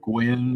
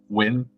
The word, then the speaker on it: Gwyn: It's just like you think it's the Gwyn or something, but it's Win. It's like, okay, NYG, and that's a W? Sure, okay, Win.